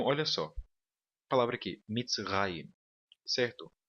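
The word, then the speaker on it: מצרים: A palavra aqui, mitzrayim, certo? A sílaba tônica é a última aqui, raim, tá bom?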